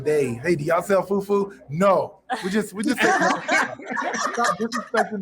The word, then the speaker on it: fufu: Like they first of all, people mispronounce it. They're saying fufu. It's not fufu. It's fufu.